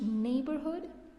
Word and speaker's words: neighborhood: Did you notice how I pronounced neighborhood? Neighborhood has a combination of EI, but I have pronounced it with a long a sound as neighborhood.